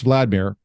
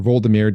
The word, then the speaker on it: Vladimir: So Prince Vladimir, or Voldemir, depending on how you pronounce it, he was the ruler of Kiev.